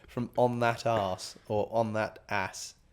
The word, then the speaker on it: On That Ass: I do have a monthly subscription from On That Arse or On That Ass. It's ON. Well, you know it's spelled On That, but ass like ASS, not ARSE. But they're really comfy, and if they're up for sponsoring, that'd be wicked.